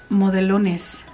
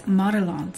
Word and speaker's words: Modelones: I was pronouncing it Modelones. That's what how you would say this in Spanish, Modelones. But it's Modelones, so learn something every day.